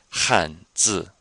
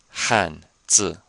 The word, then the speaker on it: 汉字: 吃饭, 饭, 饭, 饭, except now we have an H before it, so it sounds like Han. So let's try this together. 2 fourth tones. 汉字, 汉字, 汉字.